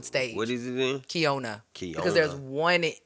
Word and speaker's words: Keyona: Like you can I already know I'm gonna see Keyona at such, and that's how people say my name, Keyona. But my name is pronounced Keyona.